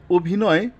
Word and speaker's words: অভিনয়: change হবে না কিন্তু কিছু কিছু ক্ষেত্রে বদলে গিয়ে ও এর মত হয় তখন সেটাকে বলা হয় সংবৃত ও যেমন এখানে লিখেছি অভিনয় তো এই অভিনয় বানান কিন্তু স্বরে দিয়ে কিন্তু উচ্চারণের উচ্চারণের ক্ষেত্রে আমরা ও দিয়ে উচ্চারণ করব তো ব্যবহারের দিক